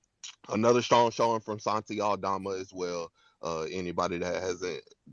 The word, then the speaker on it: Aldama: A lot of people call him Santi Alabama because they don't know how to say his name, but Santi Aldama.